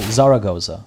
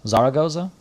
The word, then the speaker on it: Zaragoza: that cool there goes i pronounce the second a it sounds like you're saying oh zaragoza zaragoza gotcha hopefully that's closer